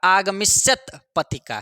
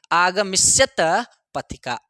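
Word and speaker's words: आगमिष्यत्पतिका: ऐसे पढ़िएगा, आगमिष्यत पतिका। क्या पढ़ेंगे? आगमिष्यत पतिका। आगमिष्यत, आगमन शब्द से आगमिष्यत पतिका पढ़िएगा, आने वाले को आगमन, ठीक है।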